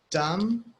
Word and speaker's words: dumb: By the way, there are many words where the B is silent. So we have debt, we have dumb, we have bomb, we